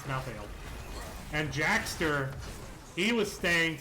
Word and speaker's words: Malthael: I'm trying to say Malthael, but I'm from West Virginia and I speak quickly to disguise my accent, so it kind of comes out as 2 syllables, Malthael, but it's Malthael.